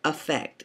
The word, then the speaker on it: affect: between mood and affect affect is spelled a f f e c t just like affect it's just pronounced affect mood is described by